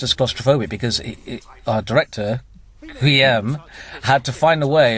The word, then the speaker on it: Guillaume: We need to settle on a pronunciation. It is Guillaume, isn't it? Guillaume, yeah, Guillaume. Guillaume.